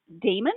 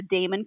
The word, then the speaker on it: Daemon: book one in the uh okay is it Damon or how do you pronounce d a e m o n Damon okay I thought so but all right that's